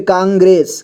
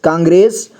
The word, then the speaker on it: कांग्रेस: बाद अं की मात्रा भी लगा तो इसे कांग पढ़ेंगे इसके बाद ग में लगा है र की मात्रा और ए की मात्रा भी लगा है तो इसे ग्रे पढ़ेंगे इसके बाद स ठीक है कांग्रेस कांग्रेस वसंत वसंत पंचमी